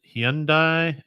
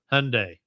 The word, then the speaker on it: Hyundai: Second place for me goes to the WRC teams of Ford and, depending on where you're from and how you pronounce it, Hyundai, and Hyundai, as we say over here.